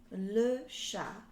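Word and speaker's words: le chat: we have how do you say cat it's le cha so it's number two okay which one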